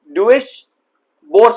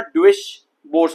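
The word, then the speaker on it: Deutsche Börse: डुइश बोर्स, कुछ इस तरीके से इसको प्रोनाउंस करेंगे। अदरवाइज मैं पहले इसको कैसे प्रोनाउंस करने वाला था, डुइश बोर्स करके, और तो दोनों में काफी डिफरेंस है नहीं, बट डुइश बोर्स करके आप इसको प्रोनाउंस कर सकते हो।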